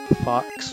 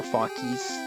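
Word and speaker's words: Fawkes: I'm gonna call him Fox or Fawkies, depending on how you pronounce that.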